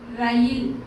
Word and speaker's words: ரயில்: ரயில் அப்படிதான் சொல்லணும்.